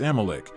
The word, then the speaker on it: Amalek: In Hebrew, his original pronunciation is rendered as Amalecch, a name that to the ancient Israelites represented not just a people, but a constant threat.